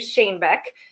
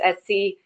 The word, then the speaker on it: Schoenbeck: It's actually easy to say once you know how to say it. It's Schoenbeck, and so it's Schoenbeck.